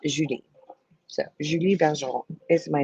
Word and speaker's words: Julie: um Julie, but my French in in French it's pronounced Judi.